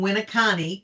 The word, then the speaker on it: Winneconne: She currently lives in Winneconne, correct? Correct. Did I pronounce that right? Excellent. Yep.